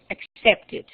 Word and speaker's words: accepted: Entonces, por ejemplo, el verbo accept termina en T. ¿Cuál sería la regla? Que se le agrega it al final en la pronunciación. Entonces sería accepted, accepted.